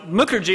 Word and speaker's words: Mukherji: but you know uh mooker g a little bit harder than Papa it rhymes with Booker T probably most of you